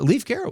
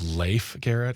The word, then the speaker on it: Leif Garrett: is pronounced Leif Garrett just so you know.